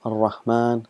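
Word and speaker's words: الرحمن: It's written as Ar-Rahmanu, but we pronounce it as Ar-Rahman.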